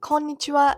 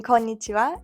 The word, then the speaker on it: こんにちは: So, the wa in konnichiwa is actually the particle wa, not the sound wa. That's why it's written ha but pronounced wa.